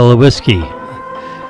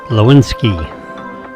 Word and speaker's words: Lewinsky: And Monica Lewis. Lewinsky. Excuse me, Monica, for m mispronouncing your last name.